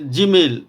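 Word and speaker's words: גימל: पर आता है अल्फाबेट जीमल या जीमल भी बोलते हैं इसको गमल भी बोल सकते हैं तो दोनों ही है ना तरीके से ये प्रोनाउंस होती है इसकी और इसका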